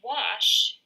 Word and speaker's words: wash: That sound is ah, like an O, octopus. But actually, wash is spelled with an A.